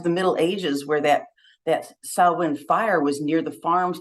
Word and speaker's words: Samhain: You know, I know it looks like it says Samhain, but it's Samhain pronounced in their language. That evolved into what we do today for the holiday. And that bonfire, the Samhain fire, was a symbolic beacon of light and